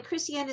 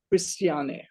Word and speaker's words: Christiane: the way Christiana said how you want your name pronounced Christian or is it Christiane you need to unmute okay there you are that's why you couldn't hear me it's Alexa Chris and my name is Christiane okay and so what